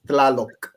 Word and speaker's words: Tlaloc: Tlaloc. Okay. How much? I got Tlaloc. You pronounce all the consonants. Tlaloc.